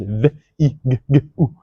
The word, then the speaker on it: Viggo: I've learned that my name is Viggo with the V. I just thought W and V is the same, but my name is Viggo.